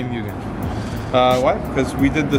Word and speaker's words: Mugen: So why Mugen? Why Mugen? Because Yeah. we know we're pronouncing it wrong. Why? It's actually Mugen.